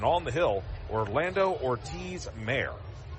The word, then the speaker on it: Mayr: Behind the plate, Bramwell, and on the hill, Orlando Ortiz Mayer. And his last name, Ortiz, then a dash M-A-Y-R, but it's pronounced Mayer as the pitch is inside.